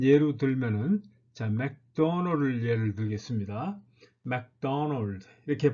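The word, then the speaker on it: McDonald's: 메구도 나루도 이렇게 발음을 합니다. 자, 메구도 나루도 이렇게 발음을 하는 것이죠. 그런데 액센트는 어디 있습니까? 맥도널드에 있는 것이죠. 맥도널드 이렇게 발음해야 되는 거죠.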